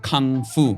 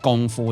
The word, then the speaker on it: 功夫: 是你知道在国外他们都把这个功夫念成康复，他们不懂那个发音，应该是念功夫，他们不理解，所以他们都是说康复。